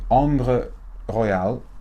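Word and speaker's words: Ambre Royale: this one it's called I suppose were meant to pronounce at the French way on the royale Royal amber and it's in the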